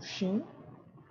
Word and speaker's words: shin: Aqui são shin e aqui é chin, certo? Shin, chin.